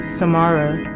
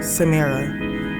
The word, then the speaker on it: Samara: Many say my name Samara instead of the correct way, Samara.